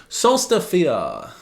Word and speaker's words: Sólstafir: Sólstafir, that's how you pronounce it.